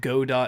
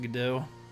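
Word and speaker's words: Godot: nowhere near um always I said go do not gdo yep but it's pronounced gdo but yeah so just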